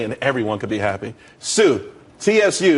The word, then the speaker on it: Tsu: everyone could be happy Sue TSU it's pronounced Su though that's that's a website.